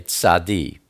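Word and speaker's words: צדי: But this one is tzadi, or you could say tzad. Most people say tzadi.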